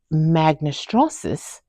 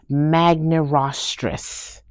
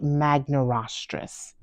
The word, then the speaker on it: magnirostris: stouter beak and G magn estris has the largest stoutest beak of the three actually that's pronounced g magaris g magaris pardon me and so